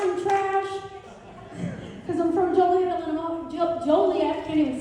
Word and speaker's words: Joliet: I have a perfect combination of glass and trash cuz I'm from Joliet, Illinois. Joliet. I can't even say it right. Joliet, Illinois. And we call it the toilet because it rhymes with toilet.